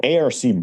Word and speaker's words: ARC: into an agreement so Arc breaks an arc break is pronounced by letters a r c is a sudden drop